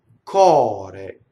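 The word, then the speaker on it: core: Cɔre. This is heart. It has single R, open O.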